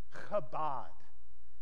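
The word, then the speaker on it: כבוד: use the Hebrew word kabad can everyone say that with Mead if you're saying it right you'll spray a fine little Mist on the neck of the person in front of you kabad is the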